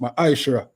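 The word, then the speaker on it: ma'aser: verse 8 to 10 means tenth in the hebrew and it's pronounced maisha ten percent of every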